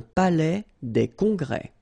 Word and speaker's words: palais des congrès: Final S here and here are not pronounced. Un palais des congrès.